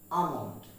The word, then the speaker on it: almond: সর্বপ্রথম যে ওয়ার্ডটি আসবে সেটি হচ্ছে ALMOND। আমরা এটাকে প্রায় উচ্চারণ করে থাকি আলমন্ড, কিন্তু উচ্চারণটি হবে আমন্ড। What is it? Almond.